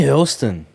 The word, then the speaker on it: Hurlston: Hurlston. What's going on? Is that the way you pronounce it? Yeah, nailed it.